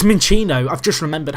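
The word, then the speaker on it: Minccino: Jim who is a minchow mow who is or minino is it mincho it's minino I've just remembered how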